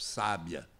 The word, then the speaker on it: sábia: Se eu tenho, por exemplo, sábia, sabia e sabiá, são as posições do acento tônico que vão demonstrar e caracterizar três palavras diferentes: sábia, sabia e sabiá.